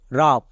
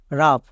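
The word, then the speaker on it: rough: তারপরে নেক্সট দেখো রাফ, রাফ। এখানেও শেষে জিএইচ আছে, জিএইচ থাকার জন্য ফ হবে।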